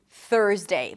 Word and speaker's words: Thursday: This is a tricky one because of the TH and the R. So here's the thing. Stick the tongue out for the TH. It's a voiceless TH. And then pull it in for the R. Make sure the tongue doesn't touch anything on the way in. And elongate the R a little bit. It's a stir sound, so it's a longer vowel. Thur, thur, thur.